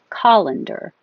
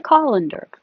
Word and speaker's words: colander: that you strain spaghetti colander where's the colander and this one looks very similar calendar with an a calendar I color code my